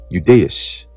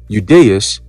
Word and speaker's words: Judaeus: Okay, when it is the first letter in words like yes, youth, or yacht, the I in Judaeus is pronounced like the Y in yes, youth, and yacht in English.